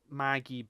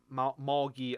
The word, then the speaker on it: Magi: The point is, I am going to recommend a anime called Magi, Magi, not Maggie, but Moggy, I think you pronounce it as.